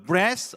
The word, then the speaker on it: breath: 시자 저를 따라서 the breath of life 시작 자 우리 번데기 발음에 주의하면서 다시 한번만 breath 시작 life life 생명의니까 bing